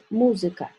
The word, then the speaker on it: музыка: Например, for example, the word музыка.